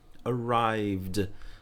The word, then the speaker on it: arrived: E a pronúncia é como o último som é um som sonoro, então você acrescenta o som do d. Arrived, arrived, tá? Não é arrive, não é vi, é v. É como se você não pronunciasse essa última vogal, e de fato você não pronuncia, você para no v.